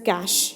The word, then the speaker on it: cache: use for the processing the cash memory is pronounced as cash you can call it as cash memory also or sometimes you can call it as catch a memory also okay the user from where he